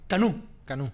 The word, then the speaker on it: Canou: Canú. Canú. Pero se escribe Canú. Exacto. ¿Y por qué se escribe Canú? Pues lo que es el término francés que se utiliza para canoa.